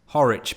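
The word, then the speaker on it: Horwich: wasn't the classiest place horik by the way and it has as much class as its first audible syllable it was closer to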